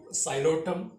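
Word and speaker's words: Psilotum: First one is, here also P is silent, P-S-I-L-O-T, xylotum.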